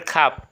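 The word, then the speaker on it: خواب: এরপরে খাব। খাব মানে স্বপ্ন। খাব মানে কি? স্বপ্ন। এখানেও কিন্তু ওয়াওটা উচ্চারণ হয় নাই।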